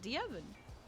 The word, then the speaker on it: Devin: His name is Devin. That's how he says it, Devin.